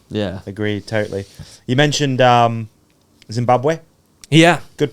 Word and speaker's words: Zimbabwe: You mentioned Zimbabwe. Yeah. Good pronunciation? Bad Zimbabwe, yeah, pronunciation? no, it's It's Zimbabwe, okay.